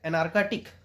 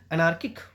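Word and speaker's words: anarchic: अब वो क्या हो गया, क्वेटिक क्या होता है, हला बलू, बहुत अराजक, एनार्काटिक, ठीक है, एनार्किक बोलते हैं, एनार्किटिक निकला मुंह से, सॉरी।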